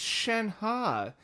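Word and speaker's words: Shenhe: It's Shenha. How the did they Okay. Again, name pronuncations sometimes are inconsistent.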